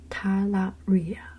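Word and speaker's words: talaria: it okay the last thing of his secret syllable the fource is tala Ria T Ria t a l a r i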